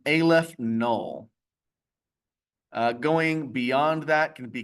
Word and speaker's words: aleph null: The cardinality of the natural numbers is this symbol, which is pronounced Aleph null.